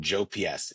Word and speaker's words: JPS: And JPS, we we pronounce it JOPS.